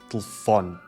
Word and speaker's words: telefone: A redução vocálica da letra E faz com que a sílaba tónica fó se destaque muito mais, telefone.